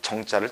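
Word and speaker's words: 精: 이런 식의 글자가 나오면 얘도 음이 좀 바뀌었어요 정이라고 읽어요 정 정인데 쌀을 갖다가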